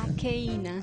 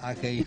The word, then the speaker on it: Akaena: Vamos, Aikena, entonces, Aikena, me dijiste que se pronuncia. Aikena. Aikena. Aikena. Sí.